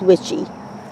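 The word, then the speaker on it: Dr. Wyche: How do you pronounce this? Jess of Roots and Refuge says witchy. So I will say witchy.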